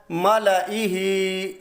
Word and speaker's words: مَلَئِهِ: مقامات میں آتا ہے مَلَئِهِ، مَلَئِهِ، یہاں بھی مَلَئِهِ پڑھا جائے گا، زائد الف نہیں، بالکل نہیں پڑھا جائے گا۔ آگے ہے قرآن کریم